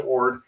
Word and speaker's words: Orde: With 11 ships coming at him from the east and 6 ships in Cadiz ready to sail, Orde was outnumbered about 3-1 or more.